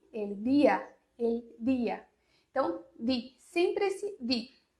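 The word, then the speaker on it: día: E não é assim que se pronuncia o D no espanhol. É di, el dia.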